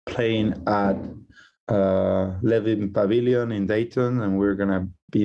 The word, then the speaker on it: Dayton: So Dayton, you don't hear the T. Yeah, like if it sounds really British, like Dayton.